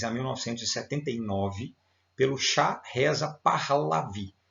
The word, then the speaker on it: Pahlavi: 1979 pelo xá reza pahlavi alguns pronunciam para Levi tá tão fácil xá reza pahlevi o nome dele é